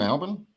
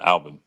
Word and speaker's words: Albin: Um Tim Alban. Yeah, Alvin. Alban.